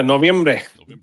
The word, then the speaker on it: Noviembre: Senor Octobre, are you going to be Senor Novembre? Am I pronouncing that right? Yeah, close enough. There we go. Yeah, Noviembre.